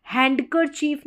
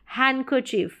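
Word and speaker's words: handkerchief: handsome D silent है हैंड करर चीफ नहीं बोलेंगे जो हैंकी होता है उसको हैंड करर चीफ नहीं बोलेंगे हैंड करची हैंड करची फ हैंड करर चफ मतलब डी साइलेंट अब इसको सैंडविच नहीं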